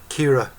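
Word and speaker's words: Ciara: Kira, C-I-A-R-A is Kira.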